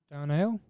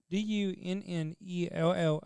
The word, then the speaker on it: Dunnellon: Donnell? Something like that? Dunnellon.